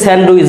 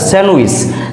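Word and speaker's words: sandwich: fridge স্যান্ডউইচ আমরা যেটাকে স্যান্ডউইচ বলি ডি এর উচ্চারণ করার চেষ্টা করি আসলে এটা হবে না স্যান্ডউইচ স্যান্ডউইচ স্যান্ডউইচ এরপর বুধ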